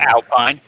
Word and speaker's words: Alpine: I'm not going to pronounce it the French way because I don't give a shit. It's spelled Alpine.